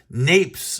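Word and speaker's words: naipes: Napes or napes, I've heard that pronounced both ways.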